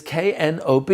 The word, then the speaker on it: knob: Knob is K-N-O-B. You don't hear the K when you pronounce knob, and therefore it doesn't count.